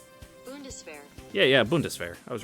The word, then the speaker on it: Bundeswehr: Bundeswehr.